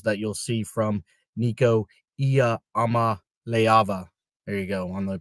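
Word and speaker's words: Iamaleava: of the struggles that you'll see from Nico iama leava there you go on the pronunciation there so um I don't know I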